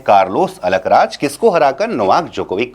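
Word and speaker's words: Djokovic: Novak जोकोविक। Novak D silent हो जाता है। तो नोवाक जोकोविक हम पढ़ते हैं।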